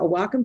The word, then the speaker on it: Wacom: It's a Wacom tablet, a Wacom tablet. I say it properly, so I've been told.